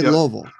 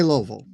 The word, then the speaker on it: Louisville: It is not Louisville. It's not even Louisville. It's Louisville. You say Louisville. If you're saying it right, you say Louisville. And that's that is how the natives say it.